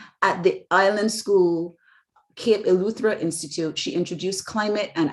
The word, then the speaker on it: Eleuthera: she is a research scientist at the kit pronounce that for me marjon luthra eluthra institute at the island school cape eleuthera institute she introduced climate and atmospheric sciences through